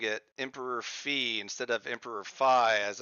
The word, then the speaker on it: Phi: I had been pronouncing fi all along but um a AI bot recently educated me that the correct pronunciation the Greek way to pronounce it is fee and so uh it